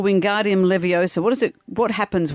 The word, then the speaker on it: Wingardium Leviosa: The famous Harry Potter spell wingardium leosa does what? Wingardium leviosa.